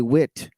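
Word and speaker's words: Witte: Rome in the accounts of gurjev's wanderings meetings with remarkable men each chapter is named after a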